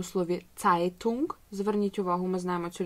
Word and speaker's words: Zeitung: Потім у нас є літера «z», як у слові «Zeitung». Зверніть увагу, ми знаємо цю літеру з англійської мови. Ця літера – це не «з», це «ц». «Zeitung», «Zeit».